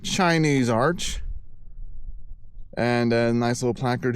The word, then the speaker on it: Chinese Arch: It's Chinese Arch. I always call it Chinaman Arch. Chinese Arch.